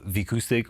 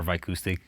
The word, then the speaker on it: Vicoustic: So uh V acoustic or V acoustic people can pronounce it both ways.